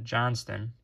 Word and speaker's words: Johnston: the green and a Quinton Johnson Johnston how do you say it yeah Johnston Quinton Johnston on the